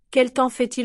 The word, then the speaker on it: quel temps fait-il: Notice how quel temps fait-il compresse. Native speakers say it like one block. Quel temps fait-il? That nasal temps is very quick.